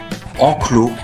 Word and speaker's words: enclos: Les autres mots que vous voyez s'écrivent enclos, dos, mais se prononcent enclos, dos.